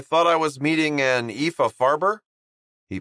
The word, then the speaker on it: Epha: Oh, I thought I was meeting an Epha Farber. He pronounced Epha's name correctly. EA without tripping over the word. Or as Eva liked to say, it's like Eva but with an F.